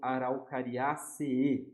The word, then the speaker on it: Araucariaceae: Essa família, a gente pode falar Araucariácea se a gente estiver escrevendo em português, mas em latim a gente vai ler como Araucariaceae, tá? A gente vai pronunciar duas vezes esse E.